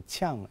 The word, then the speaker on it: Qian: ¿Está bien dicho Qian? ¿Así? Muy bien dicho, sí. Aunque en chino, la parte de Qian se debería pronunciar como Chang en vez de Qian.